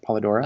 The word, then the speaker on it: Polidora: so uh is that the pr a correct pronunciation of your name paladora uh paladora yes okay um and uh how